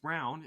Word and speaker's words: Braun: it Braun from yeah it's not Brawn it's brown yeah it's really confused